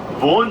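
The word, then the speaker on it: buon: 젤라또가 아이스크림이고 부온은 맛있는 딜리셔스 얘기하는데, 근데 한국 분들은 이게 부온을 빨리 발음하다 보니까 그게 본이 된 거예요. 부온 젤라또인데 부온 젤라또. 아시겠죠? 그래서 원래 부온이에요.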